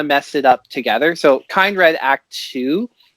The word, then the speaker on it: Kindred: um i've been calling kind red because i don't wanna mess it up together so kind red act two how off am i from the actual pronunciation i mean that that's an english word so i think uh